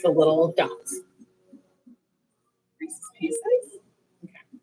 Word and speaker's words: Reese's Pieces: Reese's pieces. Okay. Because some people say Reese's pieces. Some people say racy pieces because they like it rhymes.